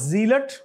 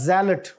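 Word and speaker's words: Gillette: क्या है जी जलेट दिस इ नट लट बट जलेट और जलेट का मतलब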